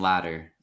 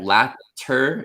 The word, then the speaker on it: latter: even if the letters were D's, for Mhm. example, the word ladder, Yeah. the pronunciation's the same. Like if you think about former and latter, so basically the first and the second, Yeah. latter is written with T's, Yeah. and then ladder, like a scala, is written with D, but the Yeah. pronunciation is the same.